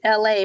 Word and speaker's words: ELAY: Until then, my name is LA, pronounced like LA, like the city.